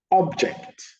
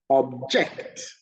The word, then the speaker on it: object: Object, the noun, the stress is on the first syllable. Object, the verb, the stress is on the second syllable.